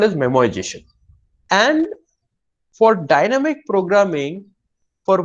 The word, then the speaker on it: memoization: So it is not memorization, that's how we pronounce it, is memoization.